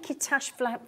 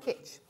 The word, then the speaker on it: kitsch: Are you saying Kitash flamingo? Is that how you're saying? Kitash. Sorry? Kitash flamingo. Kitsch. Kitsch, is that how you say it? Oh, kitsch.